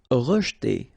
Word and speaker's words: rejeter: Rejeter. Okay, so here the E is not really pronounced, so you get rej.